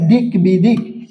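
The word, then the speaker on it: দিগ্বিদিক: যুক্ত আছে তারপরে দেখেন দিক বিদিক এখানে গ এর সাথে বফলা যুক্ত আছে তার কারণে কি হবে এখানে বফালার উচ্চারণ হবে দিক বি দিক ঠিক আছে তেমনিভাবে এইযে সাব্বাস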